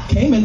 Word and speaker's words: Cayman: thought was weird cuz Cayman rhymes with gay men duh so we get